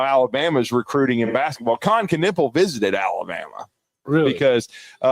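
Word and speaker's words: Kon Knueppel: Yeah, Con Knippel was just Con Knippel, is that how you say it?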